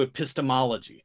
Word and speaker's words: epistemology: So, yeah, we come to Epistemology. That’s right. I said it — hard emphasis on the second syllable — because I’m angry